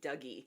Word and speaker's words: Dougie: Um, his name is spelled like in English, in American English, we would say Douggee. D O U G I E.